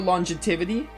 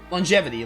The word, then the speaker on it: longevity: of nanom machine Colony not only for longetivity longevity longevity is how you say that not only for longevity